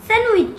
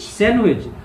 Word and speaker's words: sandwich: Sandwich. Sandwich. So, da is silent.